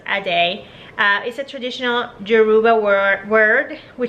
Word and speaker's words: Adi: The name Adi, pronounced Ade, is a traditional Yoruba